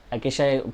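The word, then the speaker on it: acacia: Plant like cactus and अकेशा, अकेशा pronounce है उसका, अकेशा बबुल जिसको हम लोग बोलते हैं, आर टू बी फाउंड।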